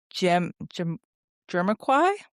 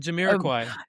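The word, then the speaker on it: Jamiroquai: like I'm gonna get hate for this, but Jim Jermaquay. Oh, Jiraquay.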